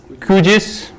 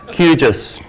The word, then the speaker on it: QGIS: at lunch and uh the Italians say kujis and the Germans say qgis something like that and of course South Africans we have the right pronunciation is Huges so if you've got any dot then pick your pick the one of your Regional flavors and stick